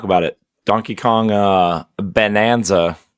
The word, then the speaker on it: Bananza: Donkey Kong uh Bonanza spelled like banana, not like bonanza.